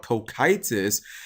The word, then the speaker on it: Cocytus: I had to look up this guy's name on how to pronounce it. It's called Kokitis.